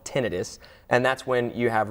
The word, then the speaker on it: tinnitus: notice what's it called it's called tinnitus it's often called tinnitus but that's a slight mispronunciation so it's called tinnitus and that's when you